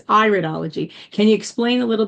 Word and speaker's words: iridology: I was calling iridology and it's iridology.